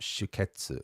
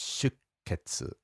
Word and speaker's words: 出血: So the pronunciation of that is really interesting because it's not shuketsu, it's shuketsu, right? There's that little tsu in there. So if you imagine the sounds all have equal spacing, rhythmically speaking, and then you've got a sh and then a ke and then a tsu. So between the sh and the ke is this silent beat, if you like a rest in music.